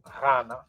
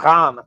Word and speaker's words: Ghana: So it's not a G sound either. People in the country called Ghana, they actually can't even pronounce it right, but the GH is a R sound. R. And if you go to places where they have that in the language, they'll actually pronounce it correctly.